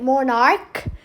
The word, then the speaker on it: monarch: So here monarch ended with ch but when you pronounce it monarch it makes a hard k sound.